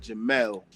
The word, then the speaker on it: Jamil: But actually um my mother pronounced it she spelled it J A M I L but she pronounced it Jamal. So, it's actually Jamal. That's my middle name.